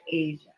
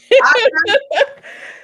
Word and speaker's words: Aja: Did I say it right? Mm-mm. Aja? It's Aja. Oh, it is Aja.